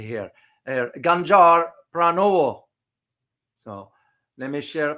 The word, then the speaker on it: Ganjar Pranowo: You have the next person is, I got to pronounce it correctly here, Ganjar Pranowo.